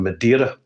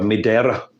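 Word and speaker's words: Madeira: actually a small distillery in madira or Madera as it's pronounced have some m m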